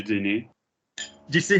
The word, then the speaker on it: dîner: So therefore, if we go back to the word dinner, D-I-N-E-R, how are we always going to pronounce E-R? Premier. You know, dîner. It's dîner. A dîner.